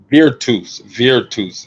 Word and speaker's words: Virtus: Virtus Roma? Is that how I'm pronouncing it? Virtus. Virtus. Virtus is how you say it.